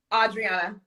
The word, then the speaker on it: Adriana: Adriana. It's like the AU, except the U is invisible.